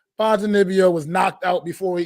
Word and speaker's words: Ponzinibbio: Ponzinibbio, I believe is how he pronounces it.